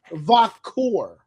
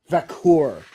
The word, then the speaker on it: Vaquer: I think it's Vaquer. Vaquer. Yes. It's like Va or Vac. Because people have been Q part is core. Like almost like core, but core.